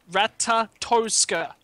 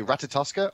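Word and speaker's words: Ratatoskr: It's- right, you can either say Ratatoska or you can say Ratatosk. Drop the R, okay?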